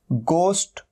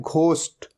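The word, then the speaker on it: ghost: और कई लोग इसे गलत भी प्रोनाउंस करते हैं, इसे कहते हैं घोस्ट। ये घोस्ट नहीं होता, हमेशा ध्यान रखना है, ये क्या है, गोस्ट, गोस्ट।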